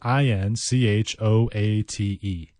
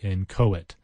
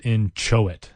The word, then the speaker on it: inchoate: and CH o 8008 inchoate I suppose it's somewhat phonetic but you kind of want to pronounce it in Chow it because there's that CH inchoate and it means not